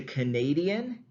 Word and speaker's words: Canadian: So examples like we go from Canada to Canadian, that first syllable shifts to a schwa, which is a very central sound.